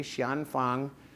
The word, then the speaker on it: Xian Fang: I started using it and that is I'll spell it for you xan x i a an f a n g Shian Fang next word is huo ho next word is